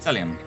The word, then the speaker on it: Celiumn: I feel like it's a silent N. Celiumn? Yeah, Celiumn. Like autumnal or autumn.